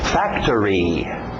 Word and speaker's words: factory: falando só Gym Ok Factory Factory pronúncia rápida o final parece árvore Tree Factory Factory Ok Factory Factory